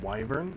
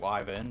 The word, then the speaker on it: Wyvern: But Wyvern? You mean Wyvern? Yeah, I pronounce it Wyvern, but like the dragon.